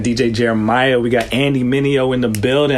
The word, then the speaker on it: Mineo: We got Andy Mineo in the building.